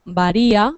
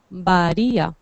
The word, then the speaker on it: varía: fuerte vale tenemos en en español tenemos dos RS una r como por ejemplo varía Que es suave varía vale o varias como queráis Vale y otra fuerte que es la que suena aquí en Socorro Socorro Socorro Sí perdón varias a ver con correcto porque varía sería así vale Perdón qué decía Samir